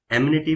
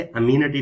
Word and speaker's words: amenities: ठीक है, इसके प्रोनाउंस इसको दो तीन तरीकों से किया जाता है। ठीक है, इसे एमिनिटी भी कहते हैं और इसे अमीनिटी भी कहते हैं।